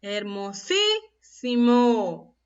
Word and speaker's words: hermosísimo: ¿Y dónde estará el acento en esta palabra? ¿En qué sílaba? En la sílaba, a ver, hermosísimo. En la primera sí. ¿Y qué ubicación tiene la sílaba sí? A ver, última, penúltima, antepenúltima. Está la mayor fuerza de voz en la antepenúltima sílaba, por ello es una palabra esdrújula.